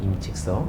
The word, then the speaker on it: 임칙서: 이제 임칙서는 사람이죠 임칙서 우리가 이제 20세기 전 중국 사람들은 이제 한자를 그대로 발음해 주고 20세기 이후부터는 중국식으로 발음 해 줘요 왜 그런지 모르겠어 하여튼 그렇게대 기해서 합의가 되는 사인이라 저도 임칙서 아고 부르겠네 이제 마약인 편이 큰